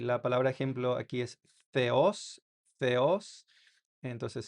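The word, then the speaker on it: θεός: Theos. Entonces, se pronuncia como la th en inglés, eh, yos significa Dios en griego.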